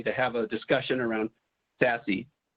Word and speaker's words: SASE: have a discussion around sassy sassy is spelled s-a-s-e it stands for secure